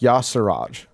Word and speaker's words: Yasiraj: This week, we explore a wicked deadly old god, pronounced Yasiraj. I dislike that immensely. I feel like Yasiraj doesn't actually make sense.